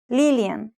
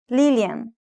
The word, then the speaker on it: Lillian: Brazil do you remember the Portuguese pronunciation of Lillian's name Lillian Lillian and how to say